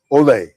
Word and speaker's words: OLE!: Is that how I pronounce it? Oh, that's exact. That's it. OLE Mamajuana.